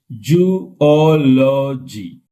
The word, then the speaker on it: zoology: Zoology. 1, 2, 3. Here in single O. Okay. Zoology. Commonly we said, people said zoology, zoology, biology, biology. That is not correct pronunciation. Zoology. Biology. Okay, that is a real pronunciation.